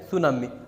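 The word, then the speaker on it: tsunami: और सुनामी में आपको पता ही है इंग्लिश में इसका टी साइलेंट होता है। तो ये जो है सुनामी।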